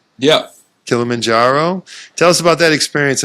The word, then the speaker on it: Kilimanjaro: Did I pronounce that right? Yeah. Kilimanjaro.